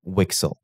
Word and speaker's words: WGSL: And in the case of WebGPU, this programming language is called WGSL, which is pronounced Wixle, and I'll be calling it Wixle from now on.